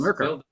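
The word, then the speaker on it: Murcar: How do you pronounce that? Is it Mercar? Yeah, yes, Mercar. Yes, that's Mercar.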